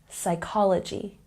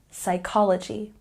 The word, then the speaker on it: psychology: have the silent P you'll know that the p is silent in a word when it comes before the letter S and here are some